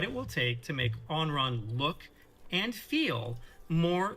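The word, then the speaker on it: Anran: By the way, the character Onron, I thought the name was fucking Ayn Rand when I saw it because... It's spelled A-N-R-A-N.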